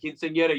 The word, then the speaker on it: Quinceañera: Blow It at Madison's Quinceañera is out June the 14th, and it's another slab of excellent from me personally. Gimme, gimme. So do yourselves a favor and Well said. Well said. Quinceañera, you said it.